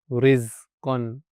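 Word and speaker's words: رزقا: Yeah, so the Tarqeeq sound, the Ra is pronounced lightly, Tarqeeq, when it has a kasra. Okay, so an example would be rizqan. Yeah, in this, the Ra has a kasra, automatically is going to be light.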